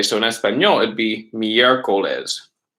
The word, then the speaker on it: miércoles: So in Espanol, it'd be miércoles. Miércoles. Con acento en E.